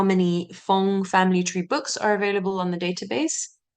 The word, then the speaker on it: Fong: So Fong, actually, there isn't too much variation. You can see that it's pronounced and spelled Fang, Fong, Fang, Pong, which all sort of sound the same.